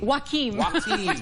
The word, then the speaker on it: Joaquin: i mean ho ho hokan joaquim or joaquin joaquin hokum's joke phonetically it's w-a-k-e-e-m right right joakim is devastating